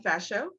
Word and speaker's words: Ferchaud: Arienne Ferchaud.